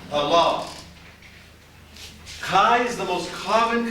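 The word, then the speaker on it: ἀλλά: Don't go Allah. It has nothing to do with Islam. Don't say Allah, say Allah. Can you see the accent mark? Allah.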